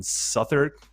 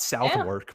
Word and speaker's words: Southwark: eye i was in suther district i liberated that district oh really it's not southwark by the way all the characters uh they gave me the the lowdown on how to pronounce certain things so i